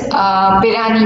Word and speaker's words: Pirani: Okay, so now let us move to another measuring device, that is Pirani gauge, right, or Pirani gauge, right? Both can be pronounced.